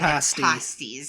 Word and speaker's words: pasties: I didn't pay attention that they were pronouncing pasties. Yeah. And again, I thought that was like her just leaving out the R, like we would say pastries.